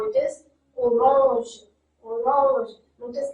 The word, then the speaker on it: orange: So the French word has the same spelling, but the pronunciation differs. How it is? Orange, orange.